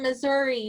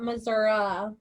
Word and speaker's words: Missouri: Marianne says she lives in Missouri, not Missouri.